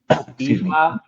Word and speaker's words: Ifa: Ifa. Okay. I-F-A. The I is pronounced E, as in C in Spanish. You know, S-I. It's pronounced like that.